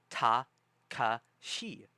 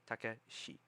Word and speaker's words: Takashi: names and realize, oh, they say ta, ka, shi. And it's spelled T-A, ta, ka, K-A. Oh, okay. Shi. Probably S-H-I. Takashi.